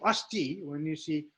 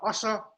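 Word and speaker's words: अस्ति: But it is pronounced s, and therefore us. Us. This is not asa, but us. Asti.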